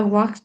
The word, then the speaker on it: walked: Tại vì cái chữ ed Walk. đọc là tờ á. Walked. Walked. Nó sau chữ K. K là vô thanh nên đọc là tờ chứ không phải là đọc là it ha.